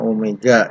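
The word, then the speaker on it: ω: W1 itu adalah dibacanya omega ya, omega 1 sama dengan omega 2, atau kecepatan sudut 1, kecepatan sudut roda 1 sama dengan kecepatan sudut roda 2.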